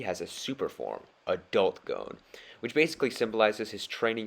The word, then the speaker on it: Gon: dbx for this too it's pronounced gone not gone moving forward let's see